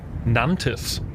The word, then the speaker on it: Nantes: It looks like it's spelled Nance, and I got really excited about saying I'm gonna do the ants in the pants dance in Nantes, France, but it didn't fucking